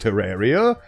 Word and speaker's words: Terraria: My favorite games are HalfLife 2, Terraria, which is apparently pronounced Terraria, and Dokyoki Literature Club.